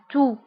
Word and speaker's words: toux: سعال la toux la toux la toux بالنسبة لا تو تكتب بإكس في آخر الكلمة ولكن لا ننطقها نقول la toux.